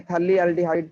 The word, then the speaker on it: phthalate: You can say phthalate. P is silent here.